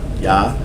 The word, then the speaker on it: Yah: English, they spell it with the J, but it's really supposed to be the Yod, Yah.